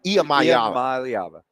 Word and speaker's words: Iamaleava: Well, how do you pronounce it? Iamaleava. Iamaleava.